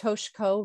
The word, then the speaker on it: Toshko: And before you do that, can I just say, Rebecca, Toshko's name is pronounced Toshko, no I.